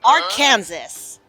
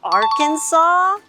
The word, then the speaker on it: Arkansas: And today I'm really excited because my friend is visiting me all the way from Arkansas. What, Winnie? You know the state in America, Arkansas? You mean Arkansas?